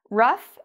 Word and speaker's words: rough: another word here rough rough can it has different meanings in english it has an ou gh and it has this f sound to it rough means